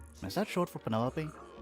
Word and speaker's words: Penelope: Is that short for Penelopey? Officially, yes, but I never can be bothered with all four syllables of it. Penelopey sounds a little ostentatious coming out of the mouth, don't you think?